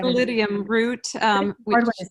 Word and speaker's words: Sclerotium: And this is where, go ahead and pronounce that one, but scaletium root. Sclerotium is how they say it. Sclerotium root.